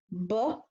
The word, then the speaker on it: bow: acts the acrobats this o w is making a long o sound he's not making the ow sound and the cole hounds brown bear and acrobats take a bo awesome i did one